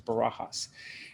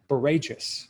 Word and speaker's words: Barajas: Once I said the last name is Barajas. And she goes, I just always figured it was Barajas because it rhymes with courageous.